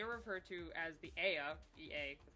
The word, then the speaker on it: Ea: They are referred to as the Ea. EA, that's how it's spelled.